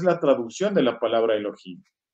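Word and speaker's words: אלהים: cierto?, de la literatura, que da Al-Jin y se pronuncia Elohim.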